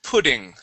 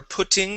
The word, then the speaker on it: pudding: you go okay uh now in the United States we would pronounce those two T's like a d okay saying PUD pudding try that pudding pudding out pudding